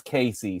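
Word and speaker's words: Caissie: I looked it up on Baseball Reference. It's Casey.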